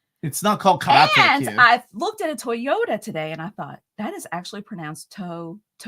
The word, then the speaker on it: Toyota: And I looked at a Toyota today, and I thought that is actually pronounced Toyota, isn't it? In Japanese, those are 3 syllables. You don't say toy. It's Toyota.